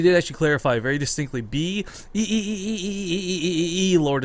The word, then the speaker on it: Blord: And he did actually clarify very distinctly, Lord is how you pronounce it.